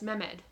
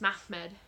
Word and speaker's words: Mehmed: is actually wrong like I kept pronouncing my med math med as mehmed when listening to the audiobook it was math med MA don't quote me